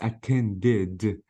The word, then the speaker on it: attended: In the past it becomes attended. Again, I pronounced E with D because the verb ends with D.